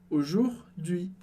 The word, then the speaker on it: aujourd'hui: Aujourd'hui. E aujourd'hui parece um palavrão, uma palavra bem longa, mas foca na pronúncia que é super simples.